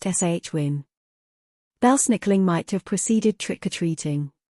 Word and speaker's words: Samhain: However, a majority of them are pronouncing the word Samhain incorrectly, saying Samhain. In fact, the word is correctly pronounced Shwin.